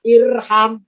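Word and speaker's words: ارحم: Kalau huruf ketiganya fathah, alifnya tidak ikutan fathah, tapi tetap kasroh. Maka bacanya irham. Nah, oh berarti langsung kesimpulan.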